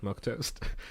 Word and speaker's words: milquetoast: always that one person are you sure that's how you pronounce it yeah milk test okay milk toast milk toast yeah I'd like two scrambled